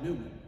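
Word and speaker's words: Newman: Well, at the shrine, Pat Hayes told me at the shrine they call him Neumann. And he wrote to me that in an email. He said, N-E-W-M-A-N. That's how to pronounce it.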